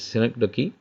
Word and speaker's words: synecdoche: And synecdoche is used here, but most students pronounce it as synecdoche, but it is synecdoche.